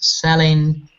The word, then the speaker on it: selling: So, such words as selling, everything, anything, should be pronounced without g or k sound at the end.